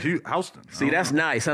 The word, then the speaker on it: Houston: It's Houston Street. It's Yeah, spelled like Houston, Houston. but you call it Houston.